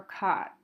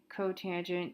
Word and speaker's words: cotangent: want to state that you don't pronounce this kisk or sec or cot. It's cosecant, secant, cotangent. You say the full word.